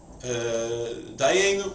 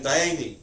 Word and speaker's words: Dayenu: and everyone answers Dayani, like the way many people pronounce it, Ilu Hoitzionu Mitzrayim, Dayenu, right? Dayenu, but in Eastern Europe and many parts of Eastern Europe, Poland, Galicia, Hungary, they pronounce A as I and U as E. So saying Dayeni.